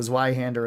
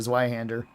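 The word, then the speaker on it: Zweihänder: calling the Zweihander a Zweihander, and people were saying I was mispronouncing. And then there was people that spoke German, and it's like, no, it's Zwei. Zwei means 2. And Hander is 2-handed.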